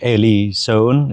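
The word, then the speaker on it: Ely Soane: And that's by Major Eli Sohn.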